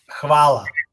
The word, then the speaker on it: Hvala: Hvala.